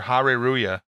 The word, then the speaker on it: Hare Ruya: And I met Saito, who's a Magic pro, and he's also the owner of the Japanese card store, Hare Ruya, and spelled like that in English. H-A-R-E-R-U-Y-A.